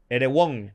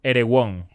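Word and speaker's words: Erewhon: lo estoy pronunciando bien Disculpen irw e r e w h o n er won er won eres won er supuestamente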